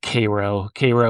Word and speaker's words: Cairo: So I had gone to, they pronounce it Cairo, Illinois, which is like this, it's famous for just being like basically a ghost town now.